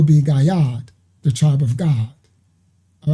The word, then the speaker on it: Gad: No, so Gad, the actual tribe of Gad is not Gad, it's God. Because there is no ad sound in Habariya Hebrew. So it will be Gayad, the tribe of God.